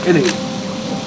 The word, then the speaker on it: any: Why is the word any spelled with an A but pronounced like it's spelled with an E? It's pronounced like it should be spelled E N Y.